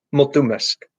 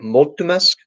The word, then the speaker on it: mulțumesc: Which syllable is the stress on? In multumesk, where do you emphasize the accent? Mesk.